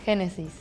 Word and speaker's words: Genesis: in Indonesia we say Genesis in Spain we say hesis like henesy like the alcohol Hennessy like the G and the J is pronounced the same in Spanish G has a u